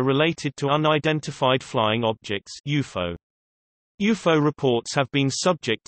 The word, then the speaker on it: UFO: the term derives from UFO which is pronounced as an acronym and the suffix Logie